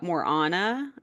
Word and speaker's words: Morana: a new character uh Morana I believe is how you say it m o r a yeah and she's